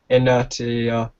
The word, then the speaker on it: Inertia: Also, Colour Glass won the poll of your best track, followed by Pressure, Inertia. Inertia. Inertia. You ain't saying inertia right. Inertia. Inertia. Silent T or shirty.